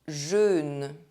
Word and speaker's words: jeûne: riot Un thérapeute A therapist EÛ is always pronounced [ø] Le jeûne The fasting Jeûner To fast OEU is pronounced